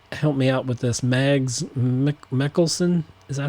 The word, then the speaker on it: Mads Mikkelsen: was wrong with, help me out with this, Mads Mikkelsen? Is that how you say it? Mads Mikkelsen, yes.